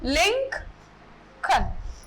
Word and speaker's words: Lincoln: So, according to the phonetics and according to the British language, this word Lincoln is pronounced as Lincoln.